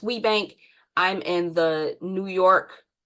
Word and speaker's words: WBENC: It's pronounced WBENC.